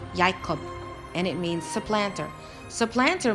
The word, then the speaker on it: Jacob: at the the name Jacob Jacob is actually pronounced yakub and it means supplanter supplanter means heel catcher